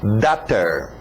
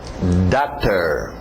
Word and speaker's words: daughter: Alright, lembra da pronúncia de water? Então só muda o W para um D. Daughter. Daughter. Daughter.